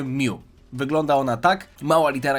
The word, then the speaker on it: mu: Mew, którego imię pochodzi od greckiej litery Mew, którą czyta się Mew.